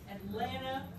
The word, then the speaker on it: Atlanta: valve this one atlanta oh i love that atlanta with no teas at all atlanta atlanta all right